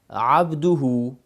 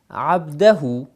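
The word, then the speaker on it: عبده: abduhu in your tashahhud, is pronounced abdahu, and you've been praying like a year, 2 years, 3 years like this, because you thought that the word pronounced it abdahu, but today you learned that it is abduhu.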